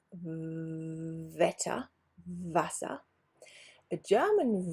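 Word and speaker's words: Wasser: letter so quick recap german w is pronounced like in english v Vetta vasa a german v is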